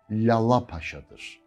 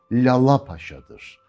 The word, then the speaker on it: Lalapaşa: Çünkü tam telaffuzu Lalapaşa'dır. Önceki L incedir, ikinci L kalındır. İlkinde damağa değdirirsiniz dilinizi, ikincisinde dişlere değdirirsiniz. Lalapaşa değildir. Lalapaşa da değildir. Lalapaşa'dır.